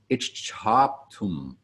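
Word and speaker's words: icchāptum: The C in transliterated Sanskrit is always a CH sound, and when you see a CH, you put some additional air after the CH sound because we pronounce every letter that we see in the transliterated Sanskrit. Therefore, the second word of the last line is ichchaptum.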